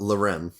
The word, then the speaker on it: Loren: Loren. Yeah, Loren. Kind of like Loren, like LA, but it's Yes.